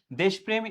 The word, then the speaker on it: দেশপ্রেম: এবং এখানে আরেকটা বিষয় তোমাকে জানতে হবে, দেশপ্রেম এটি হচ্ছে বানান, যদি বলা হয় দেশপ্রেমের উচ্চারণটা কি হবে, তাহলে উচ্চারণটা দেখো হবে দেশপ্রেম, হবে কি হবে, দেশপ্রেম, এটি হবে উচ্চারণ।